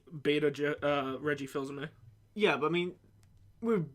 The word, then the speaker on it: Fils-Aimé: He was like beta Reggie Fils-Aimé. Yeah, a little bit. I know it's honestly, pronounced Fils-Aimé, but he fills me with a lot of joy.